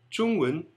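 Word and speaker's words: 中文: E o Wen, às vezes eles pronunciam, às vezes não, a maioria dos taiwaneses acabam pronunciando Wen, Chungwen, Chungwen.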